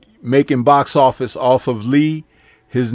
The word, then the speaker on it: Li: and also Bruce Lai, L-I, or Lee in the Chinese way of pronouncing the name. L-I in Chinese is still considered Lee.